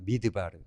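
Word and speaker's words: מדבר: 미드바르. 우리 스펠링 보시면 히브리 단어를 보면 이게 미드바르 이렇게 읽으면 광야고요. 메다벨 하면 말하다라는 뜻입니다.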